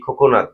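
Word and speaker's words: 코코넛: খোনাত মানে কি নারেল যাও এটাও হচ্ছে ক্লিয়ার খোকনাত মানে কি নারিকেল তাহলে আমরা বলি কোকোনাট ইংরেজিতে সেটা হচ্ছে এখানে কি খোকনাত কোরিয়ানি উচ্চারণ হবে কি খোকনাত বাংলায় কি হচ্ছে নারিকেল তারপরে কি আছে দেখুন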